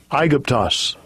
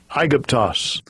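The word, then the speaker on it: Αἴγυπτος: So, and this word here is pronounced Strong's G125, Aegyptos. Aegyptos. Aegyptos.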